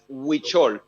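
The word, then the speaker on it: Huichol: pronounce it but uh we're known in the world as witchol um it's spelled h-u-i-c-h-o-l and the the tradition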